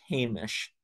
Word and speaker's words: Jemez: you'll immediately pick up, I didn't say Jemez. And that's because it was a Spanish word for an indigenous name that is Hamish. And so a lot of the locals say Jemez for Jemez Mountains, Jemez Pueblo, and the Jemez people.